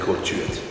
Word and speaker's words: Thuet: I mean, some pronounce the T, some don't pronounce the T. So. But normally, you know, back home where I was born, they call Thuet.